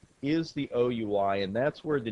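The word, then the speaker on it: OUI: identifier the o UI it's not pronounced we this is not French class it's pronounced it's just spelled out o UI and this particular o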